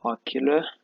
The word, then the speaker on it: Oculrr: Oculr. We decided to spell it as R double R um, for a certain element of emphasis.